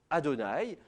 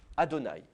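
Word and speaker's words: אדני: place, et en l'occurrence, on prononçait Adonai, qui est un mot hébreu qui veut dire Seigneur. Je vais vous l'écrire en dessous, comme ça vous saurez comment il s'écrit. C'est Aleph, Dalet, Nun, Yod, ça c'est pour les consonnes. Au niveau des voyelles, c'est Chatef Patar, Cholem et Kametz.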